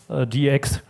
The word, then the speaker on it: DX: always mentioned to me focus on DX not pronounce it addicts heroes so this is